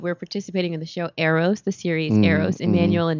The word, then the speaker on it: Eros: It's EROS. So it's not like the arrows. Not bow and arrows. Not like bow and arrows. EROS. EROS, the series.